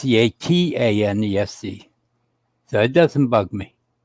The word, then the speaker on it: Catanese: Everybody spells the last name wrong. It don't matter. It don't bug me. It's Catanese.